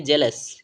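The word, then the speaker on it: jealous: यू एस ठीक है इस वर्ड का उच्चारण करेंगे तो इसे हम पढ़ेंगे जेलस क्या पढ़ेंगे जेलस ठीक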